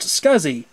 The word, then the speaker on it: SCSI: small computer system interface SCSI pronounced scuzzy to interconnect the drives